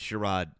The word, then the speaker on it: Sherrod: because Sherid Brown um Sherrod is it it's Sherro? I always thought it was Sharon. Yeah, but it's it's Sherrod, I think, is the correct way to say.